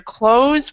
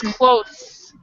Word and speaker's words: clothes: So you do not pronounce the E here at all. It's always silent. So it's either close, where these three things are silent, or it's close, where only the E is silent.